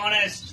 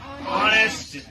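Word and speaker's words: honest: है, ऑनेस्ट जो है, H जो है ना, ये क्या है, ये तो हमारा कॉन्सोनेंट है, लेकिन यहाँ पे इसका प्रोनाउंसिएशन O से स्टार्ट होता है, ऑनेस्ट, क्या बोलते हैं, ऑनेस्ट।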